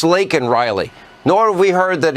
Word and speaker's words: Laken: It's not Lincoln. It's Laken Riley.